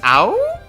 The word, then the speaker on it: Ao: And I guess it's not pronounced AoE, I probably could have guessed that, but it's ow? Ow!